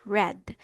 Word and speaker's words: read: Before we proceed, ang pronunciation po natin dito is red.